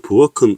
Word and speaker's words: 부엌: 1번에 보면 부엌은 음절을 소리 나는 대로 표기한 것이다 라고 되어 있는데요. 소리 나는 대로 표기를 했다면 발음을 해보면 이제 부엌 할 때 받침이 기억이라고 났겠죠.